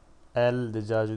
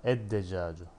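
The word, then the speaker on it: الدجاج: El decacı değil ama ed decacı. Lam okunmadı. Dal şeddeli okundu.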